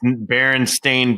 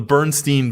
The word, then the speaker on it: Berenstain: it was Bears, and it's Berenstain Bears. I've never heard a last name Berenstain ever anywhere. So that's the Bernstein Bears. Okay, when you were a kid, your teachers were just mispronouncing it, and you couldn't read